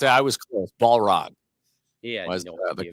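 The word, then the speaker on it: Balrog: that bullog okay bullog I think is it pronouncing it right I say bog chat so far chat's winning chat which is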